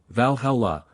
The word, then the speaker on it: Valhalla: Thunder God utgard the Abode of Loki Valhalla Valhalla the hall to which Odin took the slain